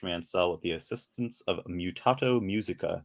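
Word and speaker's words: Mutato Muzika: The game's soundtrack is particularly memorable and was created by Josh Mansell with the assistance of Mutato Musica, and that is how you pronounce it.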